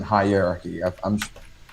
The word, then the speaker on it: hierarchy: it's spelled, but let's think of it instead of like, okay, you have the word high, and then you have the word your or your, the reduced version of it. And then R, like the word R, and then key. Hierarchy. And then hierarchy. The stress goes on high, because I think you're putting the stress on the wrong syllable.